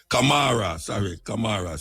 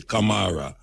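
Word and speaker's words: Camara: Bimkubwa, Kamara, C-A-M-A-R-A, Kamara.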